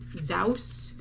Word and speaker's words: Zous: you say it is zaus uh it's z-o-u-s it's not zeus zous maybe zos i don't know um this is